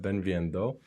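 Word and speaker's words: bem-vindo: in Portuguese is b v Beno Beno okay Ben Vendo uh so uh yanis or Janice how do you pronounce your name Janise Janice ah of course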